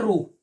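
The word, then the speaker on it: rho: किया है, ये है रो, ये क्या आपकी रो, रो रो, यानी कि एच वर्ड साइलेंट है, यहाँ पे एच वर्ड क्या है, साइलेंट, इसको क्या बोलते हैं, रो, क्या बोलते हैं, रो,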